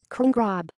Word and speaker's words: Crngrob: congra pronounced de Graaf tsy an ATP german Arang Gregan